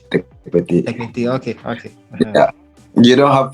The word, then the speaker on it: Tekpetey: But give me the pronunciation first. You continue. Okay, it's Bernard Tekpetey. Tekpetey.